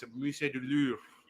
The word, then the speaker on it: Louvre: That's how you pronounce it. Musée du Louvre. Louvre.